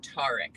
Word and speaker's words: Tariq: gotta follow it it's Tariq you got to say his name right it's Tariq he does not be Tariq or you know it's tarek so or you could just